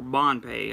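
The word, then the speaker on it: Ban Phe: instead of pataya um ban pay it obviously it's ban or Bond pay I should say I think it's Pei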